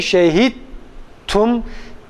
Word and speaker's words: شهدتم: Şehidtum kelimesinde şehid dalı kalkale yapmadan ta'ya çeviriyoruz. Şehidtum kelimesini şehittum dalı ta'ya çevirerek ve ta'yı da diğer ta'da idgam ederek okuyoruz.